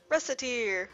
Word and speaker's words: Recettear: that but well that is then it's decided russet ear o russet ear mispronounced it even slightly and wreck it to